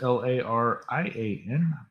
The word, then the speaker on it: Larian: L A R I A N. If I pronounced that wrong.